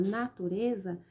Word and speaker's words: natureza: sílaba tônica da palavra natureza é o rs na turnê esse lei aí ó ela é classificada em uma palavra paroxítona por quê porque a sílaba tônica está em penúltimo lugar ó natureza usar não